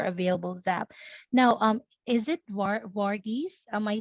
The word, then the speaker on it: Varghese: Now, is it Varghese? Am I saying it right? Yeah, that's right. Okay, so Vargas, here's what I will do.